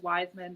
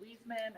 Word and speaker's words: Wiseman: I said Wiseman, not Wiesman. I was being jerk.